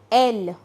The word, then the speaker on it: elle: Its pronunciation is elle and the conjugation is va.